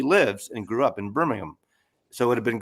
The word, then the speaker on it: Birmingham: And I've learned you got to say it like Birmingham. You don't say Birmingham. You got to say it with without the H, you know, Birmingham.